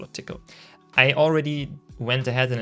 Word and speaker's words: Tcl: it myself i picked tickle or tcl the language typically is pronounced tickle at least i was told so um even though it's